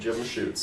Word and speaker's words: Jim Schutz: Is that the correct pronunciation? That's correct, Jim Schutz.